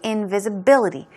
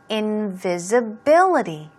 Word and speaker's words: invisibility: All right, let's move on to invisibility. This word is a bit tricky to pronounce. So, invisibility.